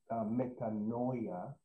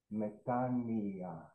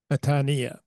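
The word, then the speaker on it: metanoia: put those two letters together y together they're pronounced e so it's not meano it's actually methania metania thank you Yia yeah right thank you very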